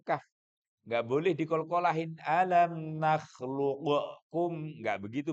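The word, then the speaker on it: نخلقكم: Alam nakhluqukum. Nggak begitu bacanya.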